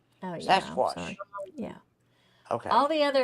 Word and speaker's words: Sasquatch: out wait a minute you're not pronouncing it right it's sasquash oh sasquash yeah okay all the